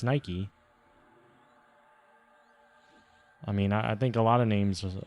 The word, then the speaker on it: Nike: it's like anything like nike could be said nike but they say it's nike i mean i think